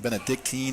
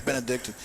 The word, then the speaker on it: Benedictine: Yeah, I always say Cleveland Benedictine, and that's not quite right. It's Benedictine. And so he kind of got me to say it correctly.